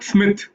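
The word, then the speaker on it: Psmith: Smith, but it is Smith spelled with a P, like in thesis and psychosis.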